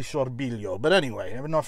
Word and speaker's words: Sorbillo: is or sorbilo sorbilio i'm not sure how they say it in italian gino saw billow i'll say it the american way gino sorbillo it's actually sorbilio but anyway i have